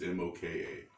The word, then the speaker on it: moka: and this one called mocha i think it's pronounced mocha it's moka it's an italian process it's similar to the